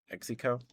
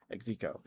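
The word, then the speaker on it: Xeko: Exico. Exo. It's spelled X E KO, I think.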